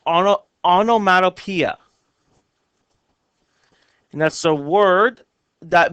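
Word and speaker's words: onomatopoeia: it looks like a really weird word it's pronounced Ono onomatopeia and that's a word that makes the sound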